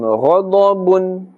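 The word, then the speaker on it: غضب: We are not saying ghada. Ghada is incorrect. Gha, because ghain and dad, these two are also part of the huruf musta'aliyah, and therefore must always be pronounced with a thick tone, a full mouth.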